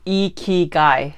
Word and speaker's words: ikigai: live in light and love first what is e key guy in Japanese and it's pronounced e key guy I know I Googled it first but what